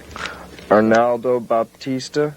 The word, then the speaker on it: Arnaldo Baptista: Arnaldo Baptista, is that how you pronounce his name?